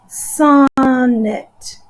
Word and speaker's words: sonnet: I know that when I say the word sonnet, I put an accent over the beginning syllable.